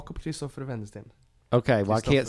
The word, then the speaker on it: Wendesten: be like and vendor stand it's it's a w but in Sweden we don't pronounce the W like W we don't sell me